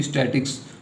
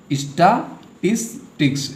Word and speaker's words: statistics: बहुत सारे बच्चे इसे क्या पढ़ते हैं, स्टैटिक्स, तो ये प्रोनाउंसिएशन जो है गलत है। तो आप लोग इसे ध्यान से पढ़िएगा। इसे हम लोग पढ़ते हैं स्टैटिस्टिक्स यानी स्टैटिस्टिक्स।